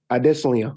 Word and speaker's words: Adesanya: Can you tell the world how to pronounce Israel's last name? Adesanya.